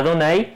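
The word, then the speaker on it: Adonai: han tomado de la palabra ado nay en hebreo suena más a donnay y por eso se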